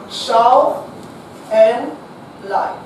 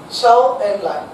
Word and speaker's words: Zhou Enlai: Zhou Enlai. Okay now? Zhou E-N Lai. L-A-I Lai. Clear? Spelling mistake also no problem. Okay, because so now you can write any spelling but pronounce it as Zhou Enlai.